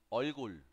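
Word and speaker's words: 얼굴: Olgul. Olgul. Así es como se escribe y así es como pronuncia.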